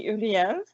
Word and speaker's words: Uriel: I pronounce it like in French, so it would be Uriel.